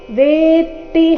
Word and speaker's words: ವೇತ್ತಿ: ಉಚ್ಚಾರಣೆ ನಾಸಿಕವ ಯೇನೌ ವೇತಿ ಇಲ್ಲಿ ಗಮನಿಸಬೇಕು ವೇತಿ ಇಲ್ಲ ವೇತಿ ತ ಕ್ಕೆ ತ ದ ಒತ್ತು ವೇತಿ ಹಂತರೈ ಇಲ್ಲಿ ಅನುಸ್ವಾರದ ಉಚ್ಚಾರಣೆ